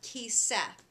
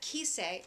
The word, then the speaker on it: kisei: That's why it's not kiseh. See what I'm saying? That's a little bit tricky, isn't it? Well, we're going to look at other words. That isn't a very common way to pronounce it. It doesn't happen very often.